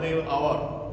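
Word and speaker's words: hour: जैसे एच ओ यू आर जिसको हम हावर बोलते हैं। हावर आवर यानी घंटे।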